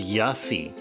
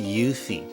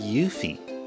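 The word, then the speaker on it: Yuffie: I used to pronounce I used to pronounce her name as Yafi. Her name is actually pronounced Yuthi. Did you know that? That that mysterious stealing girl. Her her name's actually pronounced Yuthi.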